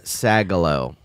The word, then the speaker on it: Sagalow: yeah will you marry me yeah it's sagalo yeah no i've always said your name right